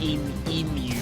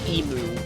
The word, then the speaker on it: emu: And yes, it is actually, at least in Australia, it's pronounced emu. Not emu, which was funny. Like, I heard it said like that in an American sitcom, and I had no idea what they were talking about.